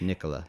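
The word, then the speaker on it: Nikola: the the new 0u TV I believe that's pronounced Nicola yes Nicola like Tesla yeah it's not the Tesla company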